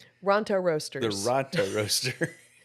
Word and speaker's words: Ronto Roasters: The rooster rotor? Ronto Roasters.